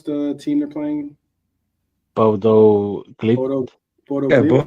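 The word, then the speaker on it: Bodø/Glimt: But how do you pronounce the team they're playing? Bodo Glimt. Bodo Yeah, Glimt. Bodo Glimt.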